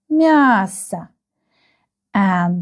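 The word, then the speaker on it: масса: If the letter O is not stressed, you can see that there is no stress mark here. Then we pronounce it like ah.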